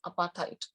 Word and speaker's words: apartheid: there was apartheid system discuss your pronunciation the pronunciation is apartheid so he uh fought for uh he fought